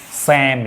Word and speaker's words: psalm: Well, so before commencing the discourse or discussion, let us know what a psalm is, right? P-S-A-L-M, the word. P will remain silent, rest part S-A-L-M should be pronounced as S-A-A-M, Psalm, right?